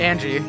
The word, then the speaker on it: Ange: we pronounce the owners no no it's angie yeah it's angie like western names there's no eye oh it's it's angie trust me it's like uh angel but angie yeah all right anyways